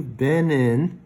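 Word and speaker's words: Benin: And then I asked the guy in there, hey, have you been in, B-E-N-I-N, to Nigeria?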